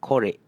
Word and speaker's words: korek: This one relates to the second rule so you can see it's always E paired with an O, you get an "eh" sound. For example: esok, ekor, and korek.